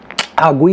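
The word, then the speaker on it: Guiu: Mark गुई, जिसने गुई होता है उसका प्रोनाउंसिएशन, जिसने एथलेटिक बिल्बाओ के अगेंस्ट जो विनर स्कोर किया उसको भी हमने मौका दिया फिर से।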